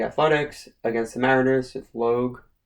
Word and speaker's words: Logue: The Athletics against the Mariners with Logue, I believe it's pronounced, Log, against Gonzalez.